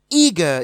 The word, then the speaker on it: eager: on the first syllable, eager is also stressed on the first syllable.